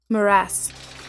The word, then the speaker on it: morass: It's not morass. Morass. Morass. It is morass. I had it right.